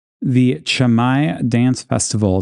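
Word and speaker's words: Camai: I had trouble pronouncing it cuz the way it's spelled looks like k i but it's chamai so it's one of those uh weird things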